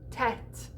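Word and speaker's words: tête: talking about sung french so when you see this little hat over the top of an e or an o the o it closes the e it opens so think about words like rev or tet you got that little circumflex over the top and it opens it up to that epsilon sound that open e like head or bed and if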